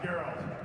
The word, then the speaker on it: Geralt: Actually, it's pronounced Geralt.